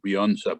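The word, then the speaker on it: Beunza: new you probably have the new beyonce book that's how it's pronounced on taking the floor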